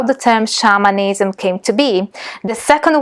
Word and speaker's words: shamanism: that scholars pronounce it shamanism rather than shamanism, because the term shamanism comes from is the Tungusi term shaman. So shamanism sounds somewhat closer to the origin where the term comes from.